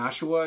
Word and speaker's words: Ashura: Just to wrap it up with the other things I've been reading, though, if anyone's familiar with Kengan Ashura, or Kengan Ashua, if you don't pronounce the R, the sequel series to that, Kengan Omega, is also popping off now.